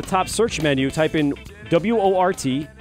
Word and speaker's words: Wort: Go on to YouTube, type in up at the top search menu, type in W-O-R-T, pronounce Wort, spelled Wort, and of course, Mike, Pete, and you will find us, and you'll find our live broadcasting now.